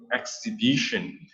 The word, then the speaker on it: exhibition: for this sentence please pay attention to word exhibition so we have this word right here exhibition exhibition the match saw is silent yeah mhmm exhibition exhibition like a gallery